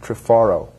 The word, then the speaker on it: Trifaro: Our third guest is Mary Ann Trifaro. Am I pronouncing it correctly?